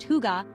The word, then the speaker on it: hygge: Hygge, pronounced huga, is all about coziness and togetherness.